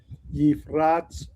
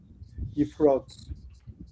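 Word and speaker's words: יפרץ: Baha kohanim v'ha'am al Yehersu la'alot el Adonai pen Yifratz bam. Lo Yifratz Elah. That has a closed, unaccented syllable, so the vowel is short. Yifrotz.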